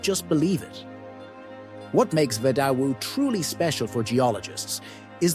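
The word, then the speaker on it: Vedauwoo: Let's start with Vidauwu, pronounced Vidauwu.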